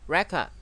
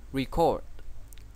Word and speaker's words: record: Danh từ đọc là record và động từ đọc là record.